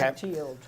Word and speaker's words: Mathilde: Remembering Mathilde, which is correctly pronounced how, Ann? That's correct. Okay. Mathilde.